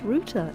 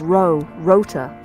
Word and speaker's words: router: It's pronounced router. It's spelled router. You being willfully disobedient, young lady? Jeremy says rota. Rota.